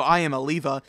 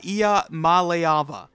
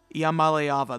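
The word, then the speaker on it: Iamaleava: and a lot of people call him nicoo I am Aliva that's not how you pronounce it it's uh Iya malava IAM malava this is the hardest quarterback name to pronounce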